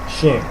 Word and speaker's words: chien: Okay, is pronounced chien, not chien. chien. Okay, it's pronounced what? How? As chien. Now, chien. And that end there is not pronounced completely. Okay, so and in the French language, whenever we have ch, it's pronounced as sh, not ch, because there is no such sound as ch in French.